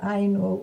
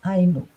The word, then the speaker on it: Ainu: Você pronunciou Ainu, o acento é no A. A tendência nossa brasileira é de pronunciar com acento no U, mas vamos lá.